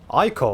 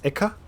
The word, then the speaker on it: ichor: Ichor? Wait, is that how you say it? Ichor? I thought it was Ica.